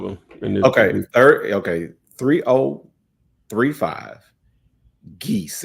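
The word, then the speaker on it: Guese: okay third okay 3035 geese and it's spelled gues e Road and this is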